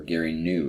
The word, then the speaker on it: Gary Gnu: Who is Gary Gnu? or Gary New is how that should be pronounced, but I'm gonna go with Gary.